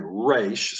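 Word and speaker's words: ריש: So, English speakers would say Raish, so from the front of the mouth, like a young child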